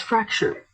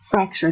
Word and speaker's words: fracture: Next word is fracture. Fracture. There's a T here, but to make it sound native, you might want to drop the T in your pronunciation.